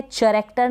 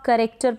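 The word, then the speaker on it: character: फिर ये है चैरेक्टर, नहीं पढ़ेंगे इसको, चैरेक्टर नहीं पढ़ेंगे, सी एच को च पढ़ दिया, नहीं। सी के बाद में एच जो है ये क्या है, साइलेंट है, इसको आप करेक्टर पढ़ेंगे, क्या पढ़ेंगे, करेक्टर, करेक्टर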